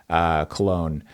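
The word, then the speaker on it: Köln: Both are right. Cologne is how you would say it in German. Cologne is how you would say it in English. So okay, great. Right. So striker from Cologne.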